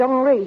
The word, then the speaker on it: Henry: He pronounces it Henri.